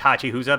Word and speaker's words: Hachihusa: which is illustrated by Hachihusa, or 8husa, but I believe it's Hachihusa because he or she is a Japanese artist, and that's how you pronounce 8 in Japan.